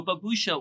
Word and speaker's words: Baboosha: So Baboosha, what we try to do is try to become the owner of the name phonetically because it works in multiple different languages. In Spanish, it's Baboosha with a CH.